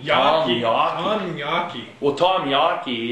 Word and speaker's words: Yawkey: How do you pronounce his name? Yali? Oh, Yawkey. Yawkey.